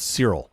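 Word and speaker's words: Searle: It was postulated by John, I think his last name is pronounced Cyril.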